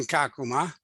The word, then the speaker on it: Kakuma: that has an ongoing uh school project in kakuma if i'm pronouncing that correctly yeah you are yeah um